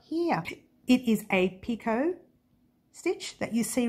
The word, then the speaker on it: Picot: Now yours truly occasionally says picoted stitch. It happens. It's just, you know, that's the way it's spelt, so I tend to say it that way.